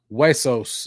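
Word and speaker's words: Huesos: buddy conos what's happening wesos is how you pronounce that that's from a Canadian me the uh yeah the the hu e is pronounced way got this from actually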